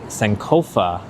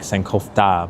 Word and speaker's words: Sankofa: Neville says it's pronounced Sankofa. It's not whether like how it's pronounced. It's more like my tongue wants to stick a T in there, like Sankofta, but I think it's like